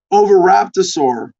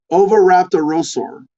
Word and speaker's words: oviraptorosaur: fossil of an ovator oviraptosaur oviraptorosaur oviraptorosaur yes there's an extra syllable in there i was missing crouched over a nest